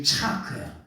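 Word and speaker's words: צחק: 말의 어근이 뭐냐면은 차예요 차크 아유 목사님 어렵네 차데 요걸 뭐라 그러냐 차하 크라고 읽어 이스라엘 사람들은 이렇게 읽습니다 예 그래서 이게 차크 요게 뭐냐 웃다 비음이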